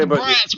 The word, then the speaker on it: Bratz: making you mispronounce that it's brat with a be we get it though the AC throw them off they mean Bratz people it's Bratz b r a TS Bratz especially when him and